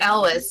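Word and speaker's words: Elwes: Is that how you pronounce his last name? I think it's Ellis, yeah. I'm not 100% sure. I know I said Els for the longest time and then I found that was wrong.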